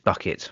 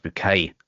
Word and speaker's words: Bucket: bucket or it's pronounced bouquet as it is uh in keeping up appearances